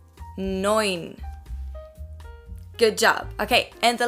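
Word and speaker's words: neun: nine but nine nine the e and u in german is pronounced as an oi noin good job okay and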